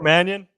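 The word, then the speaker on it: Mannion: remember how to say his last name Nico Manion yep and then Vin Baker Jr who I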